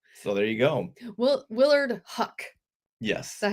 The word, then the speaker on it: Huyck: Willard Huck. Yes. Is that how you say his name? Yes. Because it's spelled like Hayek. Huyck. Okay. Yes. See, the Y is silent.